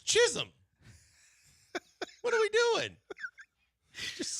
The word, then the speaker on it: Chisholm: Jazz Chisholm? Come on, man. One, it doesn't sound good being broken up like that. And two, it's Chisholm.